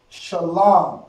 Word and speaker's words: shalom: The La and the Ma become one word. One pronunciation, I should say. Alright? Lam. Okay? Shah, Lam. La and the Ma connected is Lam. Shalom.